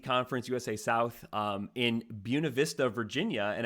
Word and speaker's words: Buena Vista: USA South um in Buena Vista Virginia and I did double check this this is the more anglicized pronunciation of Buena Vista just like Buena Vista College it's not the Spanish pronunciation so uh Southern Virginia